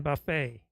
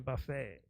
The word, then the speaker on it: buffet: Haven't I been pronouncing the T in buffet? I don't think I've been pronouncing the T in buffet.